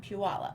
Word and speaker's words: Puyallup: lot of people call it Sew Expo in Puyallup, Or they just say the Puyallup show.